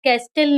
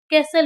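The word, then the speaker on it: castle: यहां पे भी एस के बाद टी है। इसीलिए इसका उच्चारण कैस्टेल नहीं कैसल होगा।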